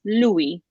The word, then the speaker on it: lui: But just to give you an example, so the word for he in Italian is lui. Lui, L-U-I. Okay, how am I going to remember this? Louis, Louis.